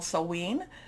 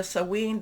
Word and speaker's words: Samhain: We are also in what's called Samhein. There's different pronunciations. I think I'm doing the Scottish pronunciation of this, but we can, there's different Celtic type of pronunciations. So Samhain, this is a time when the veil is very thin.